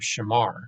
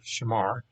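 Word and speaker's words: שָׁמַר: So now let's look at and pronounce this verb shamar. So again, this is our root here, shamar.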